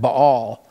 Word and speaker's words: Baal: of the false god Baal some people pronounce that ball in First Kings chapter 18.